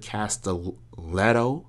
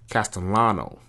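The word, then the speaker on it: Castellanos: it you play as a character called detective cast letto sorry castano sorry said his name wrong and you arrive at a mental facility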